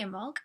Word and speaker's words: Imbolg: Now, pronunciation of Imbolg is Imbolg. You don't talk about the B.